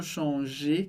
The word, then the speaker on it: change: Então, por isso, eu não posso falar, tá super errado, dizer je change ou je change, que poderia confundir com outra coisa.